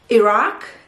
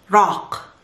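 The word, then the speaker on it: العراق: arab countries and it's iraq and we don't say iraq we don't say iraq we say rock and we have to put the article al and and pronounce this from the throat saying let's remove the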